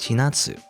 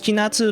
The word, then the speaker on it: Chinatsu: shinatsu family name is shinatsu i think it's chinatsu not china and it's like is it not because if you pronounce it in japanese it would be like chinatsu shinatsu anyway you have a seat